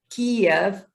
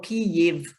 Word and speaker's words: Kyiv: So, and mostly people grant Kiev, or Kyiv, pronounced in Ukrainian, is a mother of all Russia, all Ukraine, all Russia, all Slavic nations and cities.